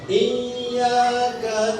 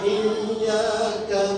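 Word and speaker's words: إِيَّاكَ: Baca Iyyaka na'budu wa iyyaka nasta'in, masih bacanya Iyyaka na'budu wa iyyaka nasta'in, hilang tasdidnya, berbahaya.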